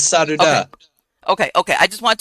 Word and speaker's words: Sadhu Dah: ask you though is the pronunciation of your name sadu da yeah it's sad da okay okay I just